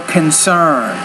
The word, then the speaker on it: concern: a concept here is it's a really short once a question or concern so you want to put that stress on the second syllable not the first so the only question